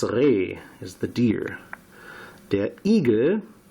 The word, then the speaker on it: Igel: Der Igel, pronounced very similar to the American eagle, however it's not that, it is hedgehog.